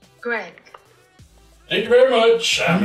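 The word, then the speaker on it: Greig: A pronunciation video of G-R-E-I-G? Go on, then. Greg.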